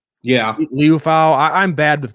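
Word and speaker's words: Liufau: Leofau. Yeah, Leofau.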